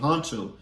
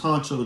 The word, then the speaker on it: Hunxho: mention to y'all named Huncho. He got an album called For Her. Now, you don't spell his name regularly like Huncho. You spell it Hunxho.